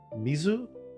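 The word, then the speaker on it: 水: Mizu, the kunomi for mizu is mizu. So when you see the kanji mizu standing by itself, you read it as mizu.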